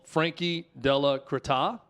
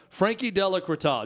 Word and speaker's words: Frankie Della Creta: Example A is a person called Frankie Della Creta. It's spelled with a Z at the end, but in their bio on Twitter, it does say that the Z is silent.